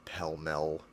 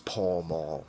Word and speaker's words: Pall Mall: Pall Mall those brands so are pell mell if you're 90 years old and still say Pell mell I can read the comment now actually pill mill is the appropriate pronunciation that to the shut the up nobody cares it's Pall Mall say it how it's spelled so the price I'm